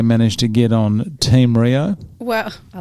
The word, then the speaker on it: Riou: you said all right how do you say your last name Rio Rio as in like just without but I was gonna say Rio de Janeiro all of that yeah